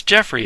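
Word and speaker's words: Geoffrey: the whole Sketchbook of Joffrey CR Jeff Jeffrey it's Jeffrey it's spelled Joffrey but it's not he's an American so it's Jeffrey um Legend Sleepy Hollow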